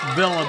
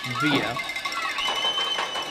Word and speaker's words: Via: Some folks call it Villa, but it is pronounced Via.